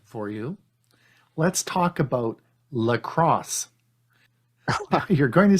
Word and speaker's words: Lacros: Lacrosse as a sport is spelled Lacrosse. We're going to talk about lacrosse for a Chromebook, which is Lacros, and it stands for Linux and Chrome OS, and that's called lacrosse.